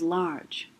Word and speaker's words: large: write the word large what would this word say if we took away the final silent e right larg but the word we want is large so adding final silent e does what it's making the g say j and that's the second